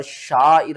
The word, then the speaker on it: شعائر: رل، لام کھڑا زبر لا، ہا زیر ہی، شعائر اللہ، لفظ اللہ سے پہلے جب بھی زبر ہوگی ہم لفظ اللہ کو موٹا کر کے پڑھیں گے، اور شعائر اللہ یہ آپ نے نہیں کرنا، آپ نے